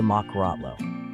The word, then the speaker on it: mokorotlo: Over the blanket sits a traditional straw hat shaped like a cone called the mokorotlo.